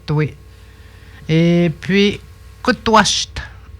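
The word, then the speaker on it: kutuasht: Et puis, kutwasht. Il s'écrit de même, il se prononce kutwas.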